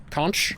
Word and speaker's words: conch: Um, you can also the ghost can also blow in the the conch shell. Kunch. I don't know how to pronounce it. Apparently, both ways are correct. Depends where you are.